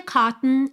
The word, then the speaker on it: cotton: A gente vai do T direto pro N som para dentro.